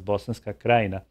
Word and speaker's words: Bosanska Krajina: Bosanska Krajina, oh, I mean, we would be pronouncing it as Bosanska Krajina.